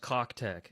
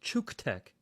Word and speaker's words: CUKTECH: Guys, this is not pronounced Cock-Tech. As much as you and I both want to pronounce it Cock-Tech, it is pronounced Chuke-Tech.